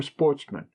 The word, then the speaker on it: sportsmen: good family, who were sportsmen, a French word pronounced with the accent on the men.